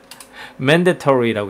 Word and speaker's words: mandatory: 저거는 맨 다리 털이가 아니고요 mandatory라고 있는 단어입니다.